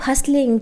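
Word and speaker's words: hustle: सुना होगा guys keep हस्लिस keep हसिंग है ना we have to हसल इन the life तो हसल का मतलब क्या होता है यहां पर टी साइलेंट है हसल हसल का मतलब होता है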